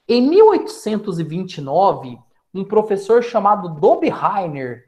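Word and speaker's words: Döbereiner: 1829 um professor chamado do bi heier é assim que a gente pronuncia tá foi o primeiro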